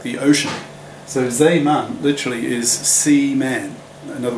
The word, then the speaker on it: Zeeman: Anyway, so effectively the Zeeman, I'll pronounce it in the Dutch way, the Zeeman effect is you get